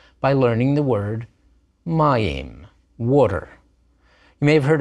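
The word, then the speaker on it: מים: got that name but Mayim is the Hebrew word for water good word to learn begins with a regular me ends with a final meem because it's accented on that first syllable you see that accent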